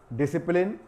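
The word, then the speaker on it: discipline: इसको पढ़ा जा रहा है डिसिप्लिन और लिखा जा रहा है SCI से, तो बहुत से लेटर यहाँ पर इसमें साइलेंट होते हैं।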